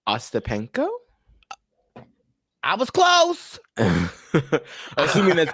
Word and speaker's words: Ostapenko: Taylor Townsend and Jelena Ostapachino. Ostapachino. Uh, I'm kind of close. how do you spell it?